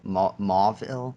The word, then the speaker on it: Mauville: Yeah, I think right now I'm grinding for going to Mauville. Is that how you pronounce it?